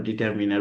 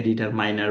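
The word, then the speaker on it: determiner: নাউনের পড়তে গেলে তার মধ্যে ডিটারমিনার সম্পর্ক আছে, দ্যাটস ওয়াই আমরা ডিটারমিনার, বা অনেকেই এটাকে ডিটারমাইনার বলেন। আপনার যেভাবে উচ্চারণ করতে ভালো লাগে আপনি সেভাবে উচ্চারণ করেন, আমার কোনো সমস্যা নেই।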